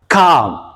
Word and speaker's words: calm: ማለት ነው። ተጨማሪ ትርጓሜ calm calm calm እያልን በተለምዶ የምንናገረው ወይም የምናነበው calm l is silent okay l is silent።